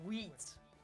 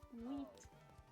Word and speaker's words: wheat: I said wheat. I Oh. said wheat. Oh. wheat. I made sure to pronounce the H.